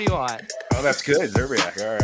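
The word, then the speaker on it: Szczerbiak: How do you pronounce Wally's last name? Don't stop. Everyone stop doing it. I said Zerbiak. What do you want? Oh, that's good. Zerbiak.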